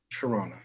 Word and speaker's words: Toronto: of toronto i'm sorry is it toronto or toronto toronto it's just a silent t toronto toronto yeah there you go